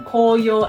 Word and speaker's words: 紅葉: talking about this country we have to pronunciation Koyo and the Momiji and Koyo means red leaves in Autumn and the Momiji means maple leaves but also Momiji is